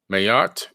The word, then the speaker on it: Ma'at: going to talk about the ancient god named Mayotte m-a-a-t mayat is actually the pronunciation she was the wife